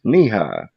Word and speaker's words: Nehi: One was knee high. I pronounced it in my head Nehi for at Oh least my a God.